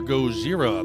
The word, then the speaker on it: Gojira: Originally called Godzilla, that is your Gojira. They changed their name to the Japanese pronunciation before they ever even went into the studio.